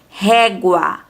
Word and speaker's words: régua: Quando falamos palavras com guá ou guó, pronunciamos a vogal U, tá? Então, aqui nós pronunciamos a vogal U. Guá, reparem bem, guaraná. Régua, régua. Água, água. Enxágue, enxágue. Ambígua, ambíguo. Sempre vamos pronunciar a letra U, tá?